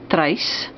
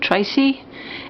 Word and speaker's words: Trace: My name is Trace. It is pronounced in the Afrikaans way. I think in English and everywhere else in the world I will be called Tracy.